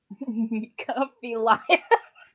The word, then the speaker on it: Nekophilia: Nekophilia. There you go. That is how you pronounce it.